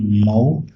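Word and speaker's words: Mhow: Birth हुआ 14 अप्रैल 1891 में Mahar family in मऊ, pronounced as मऊ, now doctor Ambedkar Nagar in Madhya Pradesh.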